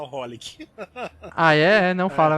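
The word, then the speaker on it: xxxHOLiC: É porque o Triple X, XXX não se pronuncia, as pessoas se falam só Holic.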